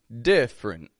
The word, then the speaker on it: different: seeing here different different that D and I in the beginning it's real strong right d but then f r f f frint frint I'm just going straight from the F to the r I'm not going diff but different different so that middle e totally omit that take it out and